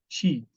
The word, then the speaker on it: cheat: Ó, essa palavra cheat, ela tem dois es, e dois es você não pronuncia a letra E, você pronuncia I esticadinho, tá? Cheat, ok?